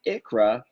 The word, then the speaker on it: ICHRA: The ICHRA, pronounced ICHRA, is an individual coverage health reimbursement arrangement.